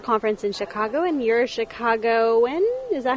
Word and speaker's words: Chicagoan: We're at summer conference in Chicago and you're Chicagoan?